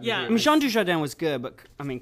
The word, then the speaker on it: Dujardin: think that how you pronounce his Jean name? Dujardin.